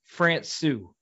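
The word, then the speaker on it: Frana: It's pronounced Francou.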